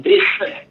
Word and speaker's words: dessin: Si nous apprenons un mot comme dessin. Dessin, il écrit D-E-S-S-I-N. S-S-I-N. Ça va jamais prendre accent. Tandis qu'elle prononce bouche ouverte. Dessin. Jamais dessin, mais dessin.